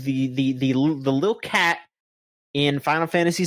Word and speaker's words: Cait Sith: uh that they they said that the the the the little cat in Final Fantasy 7 Rebirth, it name is going to be pronounced Kate Sith in the game, which if you know anything